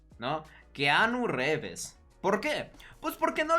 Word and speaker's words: Reeves: conocía, que yo conozco, en lugar de decir Reeves, que es como se pronuncia, Ken Reeves, decía literalmente Reves, Reves, ¿no? Keanu Reeves.